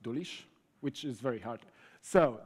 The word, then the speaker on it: Dulisz: It's also spelled, pronounced Dulisz, which is very hard.